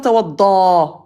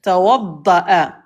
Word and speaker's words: توضأ: Attention, c'est pas tawadda. non j'ai bien vu qu'il y avait une hamza dessus donc Voilà, il y a une hamza, donc on va le prononcer. Tawadda'a.